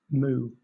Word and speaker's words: moue: Moo.